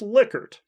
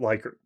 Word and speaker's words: Likert: and he told me it should be pronounced liquor and not like her at any rate uh